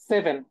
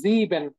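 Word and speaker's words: sieben: ওয়েটা দেখেন সেটা হচ্ছে সেভেন হ্যাঁ সেভেন কে কিন্তু আমরা বলতেছি জিবেন আমরা কিন্তু এটাকে সিভেন বলতেছি না কারণ হচ্ছে আমাদের এস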